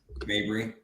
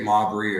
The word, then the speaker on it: Mabry: pronounce your last name Mabry I was like I get modbury or mappry a lot though she's like oh yeah